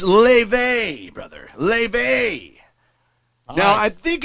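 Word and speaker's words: Laufey: interesting one it's it's Le brother Le now I think it's called I think it's Le because it it's it's spelled like ly huh l a u f y so when I asked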